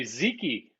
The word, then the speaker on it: Dziki: John, I'm going to say Ziki with a silent D.